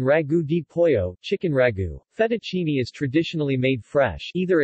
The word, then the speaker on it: fettuccine: Fettuccine Italian pronunciation fed at team a literally little ribbons in Italian sing fettuccine is